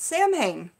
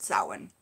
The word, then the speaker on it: Samhain: and before I was into YouTube, I always pronounced it Samhain, because that's the way it's spelled, but it's pronounced probably both ways, but Samhain.